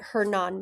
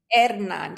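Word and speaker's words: Hernán: I want to say it right, Hernan Mexico. It's actually Hernan. So, when in Spanish, you don't pronounce the H, so it's Hernan.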